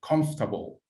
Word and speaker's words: comfortable: Comfortable. Christian say 3. I repeat again. Comfortable. Yes, the correct answer is 3.